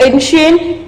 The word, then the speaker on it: ancient: The word ancient carry the letter CI in it, and how it's pronounced ancient. Here the word, the letter C and I give the sound as SH.